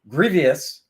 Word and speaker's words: Grevioux: And we're going to bring on our guest, Kevin Grevioux. Hey, Andy. Yeah, I pronounced the right.